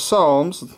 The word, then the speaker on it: Psalms: Esther jube is job Psalms as Psalms we just have the p on the front but it's still silence pronounced the same parabolis that's the Book